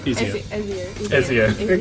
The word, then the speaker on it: Ezio: Are there any other sort of cool new things you could do as Ezio? Is that how you pronounce it? Yeah. Ezio? Ezio.